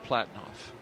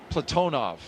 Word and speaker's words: Platonov: Aayoui, and Rosscosmos cosminaut Alleg Platinoff. Platonov. I corrected my pronunciation yesterday and I slipped back into Americanizing.